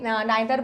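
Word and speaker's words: neither: ईदर एंड नीदर, इसको आइदर एंड नाइदर भी बोलते हैं।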